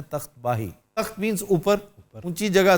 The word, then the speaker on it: तख्त बाही: तख्त बाही यहाँ का एक लैंडमार्क है, जिसको आमतौर पे तख्त भाई कहते हैं। ये मिसप्रोनाउंसिएशन है, तख्त बाही।